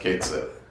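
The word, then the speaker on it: Cait Sith: and they've said that because we all pronounce it Kate Sith it's pronounced Kate Sith oh okay never mind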